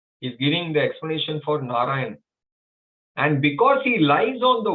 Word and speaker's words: Narayana: And because he is lying on the same water, he is called Narayana. Narayana. 4 syllables.